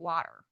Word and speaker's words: water: I mean, my husband's explained to me that you're supposed to say it like it rhymes with otter. So I can say it water.